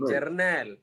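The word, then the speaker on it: Jarnail: Journal. Journal. Yes. Journal. J R N A I L. Like you know journal.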